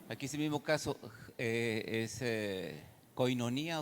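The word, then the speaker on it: κοινωνία: Koinonía.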